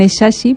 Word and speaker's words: Nnechachi: lo siguiente eres amal bueno se pronuncian esashi pero Vale cualquier pronunciación Cuántas veces has